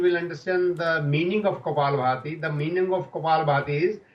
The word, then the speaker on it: Kapalabhati: The Kapabharti, is it called? Kapalabhati. It's not Bharti. Kapalabhati.